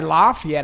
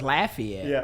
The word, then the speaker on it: Lafayette: getting it right so i wouldn't say laugh yet i didn't know it was lafayette yeah exactly lafayette yeah so uh you